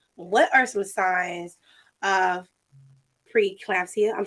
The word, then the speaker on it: preeclampsia: So my question for you is, what are some signs of preeclampsia? I'm saying it right? Yeah, preeclampsia.